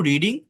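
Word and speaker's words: read: মানে স্পেলিং একই থাকে। স্পেলিং এর কোন চেঞ্জ হয় না। বাট প্রোনাউন্সিয়েশন চেঞ্জ হয়।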